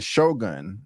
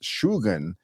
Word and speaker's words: Shogun: with the pronunciation um I'm used to saying Shogun but it's actually pronounced shugan a supreme military commander equivalent to a Duke